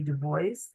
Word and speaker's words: Du Bois: Du Bois or Dubois, depending on how you say it,